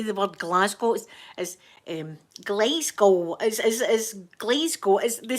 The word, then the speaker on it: Glasgow: You know, it's pronounced Glasgow. Glasgow. That's how we say it.